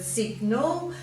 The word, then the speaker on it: sign: comes from the word signal and we first had the word signal and then when they needed the word sign it was too hard to pronounce that g so they made it silent um southern you've got